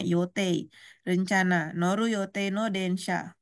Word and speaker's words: 予定: 3番は山田さんが私が乗る予定。予定ini yote kanjinya bacanya yote.